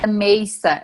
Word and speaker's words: Mesa: cidade que você morava meza ela se pronuncia amei essa mas escreve mesa MS a usar você pode